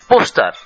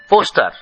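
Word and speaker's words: poster: paper paper paper paper পোস্টার পোস্টার পোস্টার পোস্টার আমরা বলি ও একেবারে সোজা সরল রৈখিক ও কিন্তু ইংরেজিতে বলা হয় ও থৌ থৌ পোস্টার পোস্টার সার্টিফিকেট সার্টিফিকেট আমরা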